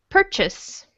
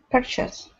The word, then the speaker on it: purchase: Let's say purchase. Purchase. Uh huh. Say the just say the second syllable of the word chess. Chess. Yeah. Now by itself, this word is the word chase, but here it's purchase.